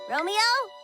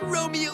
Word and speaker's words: Romeo: Romeo? Hello? Forsooth, it starts with an R line. Rhymes with polio, I say it all the time.